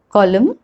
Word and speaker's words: column: pronouncing the l okay the next rule is about silent letter n n is not pronounced when it comes after m at the end of a word for example column him autumn solemn condem it's not difficult